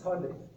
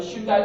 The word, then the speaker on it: Hyundai: That's Hyundai.